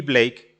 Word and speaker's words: Blake: mencionabas hace ratito a Black, no, pero no es Black, es Blake Lemon.